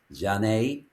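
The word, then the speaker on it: Zhané: That's the Jean with a Z h, which is pronounced Jane.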